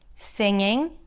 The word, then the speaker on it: singing: G in the spelling a lot of people pop the G sound at the end of the word longing. singing when in fact these are all NG consonants singing, longing, and ping.